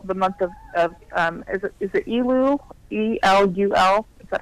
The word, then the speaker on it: Elul: E-L-U-L?